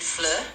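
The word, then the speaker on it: fleur: We can pick something like flur for flower. Uh let me know if that sounds good. What's f? What did you say for f? I suggested flur, which means flower.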